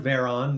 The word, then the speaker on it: Veron: name is uh Veron that's uh yeah you pronounce it like holy crap there's a bear on the hood of my car with a v um and yeah I